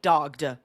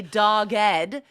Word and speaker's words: dogged: And notice that we do pronounce the E there. We don't say dogged. We say dogged, and it's often coupled with the word determination, like dogged determination.